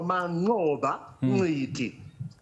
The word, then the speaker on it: Manqoba: Eh kocha anatamkwa kwa wanasema click sound anaitwa Mang'a eh kwa hiyo inatakiwa tukarili humo.